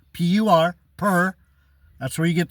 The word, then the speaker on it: Pur: Purim is the casting of lots.